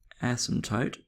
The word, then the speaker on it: asymptote: our vertical ASM toote our vertical ASM toote with the silent p and it's at um